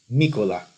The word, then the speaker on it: Mykola: Or actually, Mykola Nikolaevich Blinov, which is the Ukrainian pronunciation of his name.